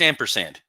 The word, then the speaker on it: ampersand: Is it pronounced ampersand or ampersand? It's ampersand.